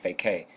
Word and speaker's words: FAQ: understand that FAQ FAQ you literally pronounce it back FAK basically it is it